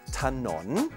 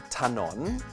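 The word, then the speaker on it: ถนน: We pronounce this as ถ น น, a rising tone. ถ น น.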